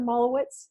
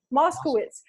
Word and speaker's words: Moskowitz: listening it's a doctor is it am i pronouncing that right dr. mala wits is that is that your correct Moskowitz oh my apologies my apologies you're what people